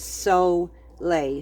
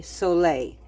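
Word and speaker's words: Solé: about something called Soleil it's spelled s-o-l-e but its accent it is so lay so lay and all it is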